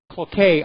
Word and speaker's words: Cloquet: Now, apparently the factory that produces diamond matches and toothpicks, Cloquet, I think it's pronounced, is going to close.